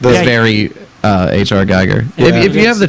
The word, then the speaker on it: Giger: H.R. Geiger.